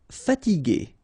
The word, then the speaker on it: fatiguer: Okay, remember that we had this G and E normally, so G, E, R without the U should be pronounced like G. Okay, so if you want to modify the sound and then to have this G, okay, you will have to add this U between the two.